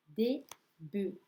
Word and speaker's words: bœufs: Ensuite, un pluriel facile à écrire, mais difficile à prononcer. Un bœuf, des bœufs. Je l'écris en alphabet phonétique aussi, pour le rendre plus clair. Un bœuf, des bœufs. Pareil pour un œuf, des œufs.